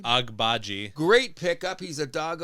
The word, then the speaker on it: Agbaji: Agajibi. I never say their names right. Another dog who plays mad defense. And the rookie they got, their 19-year-old. Agbaji. How do you say his name? Agbaji.